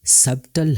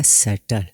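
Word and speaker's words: subtle: बी मुकम्मल silent है जैसे सटल यह वर्ड सबटल हरगिज नहीं होगा बल्कि होगा सटल इसी तरह सकम बी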